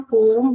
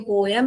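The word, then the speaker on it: poem: हम पोम भी बोल सकते हैं, पोयम भी बोल सकते हैं, दोनों प्रोनाउंसिएशन करेक्ट है बेटा।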